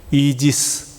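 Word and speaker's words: Aegis: 되다니 중요합니다 애게 해를 요즘 영어 스펠링을 읽으며 는 이지스 이렇게 되는데 방패 아예 기스 방패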